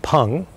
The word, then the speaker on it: Peng: And you may remember that the quality of Peng, P-E-N-G, but pronounced P-U-N-G, the quality of Peng is uplifting, not just spiritually, but physically, uplifting to your opponent.